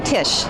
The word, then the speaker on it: Tish: show on breakups okay what's your name I'm Tish can you spell that for me please yeah T is H